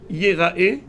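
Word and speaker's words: יראה: Le mot Yerae se lit Yerae, mais s'écrit Ir'e.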